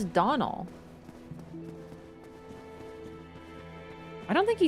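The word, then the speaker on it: Domhnall: Pronounced like Donald. I always try to hear how he says his name, but he talks so fast that he's like, "I'm like what?" So, Donald is just Donald.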